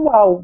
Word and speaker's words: WOWL: E com isso a gente criou essa palavra que a pronúncia é igual ao UAU mesmo, né?